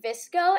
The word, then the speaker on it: VSCO: I'd pronounce it like Visco, and basically you can